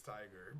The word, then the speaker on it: Tigre: I honestly, I think I recall like Calvin corrected me about 10 times that it's Tiger, but I still say Tigre.